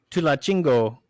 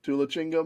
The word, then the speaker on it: Tulancingo: Tulachingo. Yes. Okay. Tulachingo, Mexico. Tulancingo, I think.